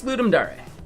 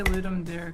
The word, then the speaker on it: Ludum Dare: how was that pronounced cuz I always pronounced it lum there it's I think it's ludum Dar like the DAR part I've heard other people say for sure I just say ludum dare because it's like I